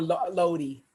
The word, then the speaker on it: Lodi: And like you said, is it called Lodi or Lani? Well, we call it Lodi.